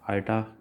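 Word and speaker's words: iota: आइटा इसकी pronunciation है, और इसको क्या बोलते हैं?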